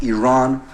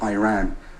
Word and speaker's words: Iran: the Iranian people but you're pronouncing our country's name wrong our country is named Iran not Iran please once and for